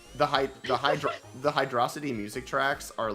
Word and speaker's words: Hydrocity: percent because it's it's it's spelled as if it's Hydro City but it's one word and so the hydro City the hydro City hydrosity debate will go on